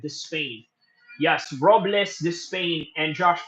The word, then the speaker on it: Despain: And by the way, it's pronounced Despain. Okay, thank you. That was the comment right there. Was saying Despain. Okay, so that is the pronunciation of it, Despain.